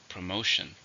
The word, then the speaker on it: promotion: countable noun how many syllables are in promotion three stress in a second promotion there was a promotion